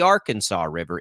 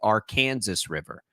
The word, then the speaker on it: Arkansas River: Kansas it's not the Arkansas River it's the Arkansas River there's an Arkansas city it's very real it is pronounced our Kansas in this state that'll you'll you'll win